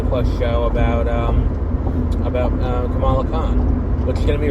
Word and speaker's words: Kamala: for me um like i was pronouncing it um kamala harris and it's like no it's kamala harris it's like okay well